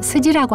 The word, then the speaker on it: 스지: 경전이라고 할 때 날경자를 일본 발음으로 스지라고 하는데요.